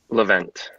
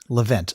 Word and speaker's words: Levent: Levent. Levent.